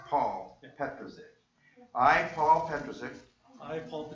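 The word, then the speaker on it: Pa'l: it with the apostrophe PA apostrophe L but it's pronounced Paul and Petro's it I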